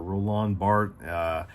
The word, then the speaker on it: Roland Barthes: so we're talking about roll on roland barthes or roll on bart several you know well